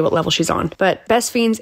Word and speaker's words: Best Fiends: have got to download best fiends and how you spell that is f-i-e-n-d-s but it is pronounced fiends this is a very